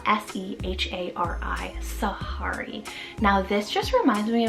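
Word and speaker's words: Sehari: Then we have Sahari, spelled S-E-H-A-R-I, Sahari. Now this just reminds me of like the jungle. It reminds me of the name Safari, but Sahari just has a little bit of that different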